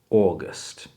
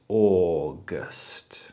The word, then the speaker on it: August: Chciałbym, żeby każdy Polak zrozumiał, że jak mamy w języku angielskim au, tak jak w tym słówku, ten dwuznak au nie daje nam dwóch oddzielnych samogłosek.